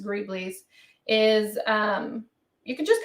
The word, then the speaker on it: greebles: or griebly's it look the word looks like grebels but it's pronounced greebly's is um you can just kind of do